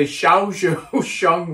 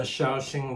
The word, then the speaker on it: Shaoxing: Because one of the things I don't like, and excuse my pronunciation, is the Shaozhou Sheng wine. Did I say it right? The Shaoxing rice wine?